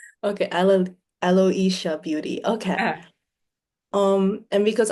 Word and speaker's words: Aloisia: Um, so I say it Aloia Beauty, but maybe just because of my accent that that's how I pronounce it. Okay. Alo Aloisha Beauty.